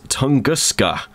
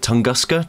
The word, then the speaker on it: Tunguska: it's with secret files tunguska I think that's how you pronounce it tunguska tunguska tusu um it's a point